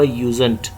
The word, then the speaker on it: usen't: यूज़ नॉट का short form होगा यूजेंट। याद रखें USENT, इस तरह आप इसको प्रोनाउंस करोगे यूजेंट, यानी डी को आप लिखोगे लेकिन पढ़ोगे नहीं।